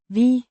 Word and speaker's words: vi: V means we pronounced V. A short clear V sound followed by a short E sound.